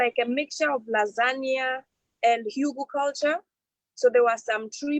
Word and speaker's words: hugelkultur: She's saying it right. Hugelkultur. But it's culture with a K.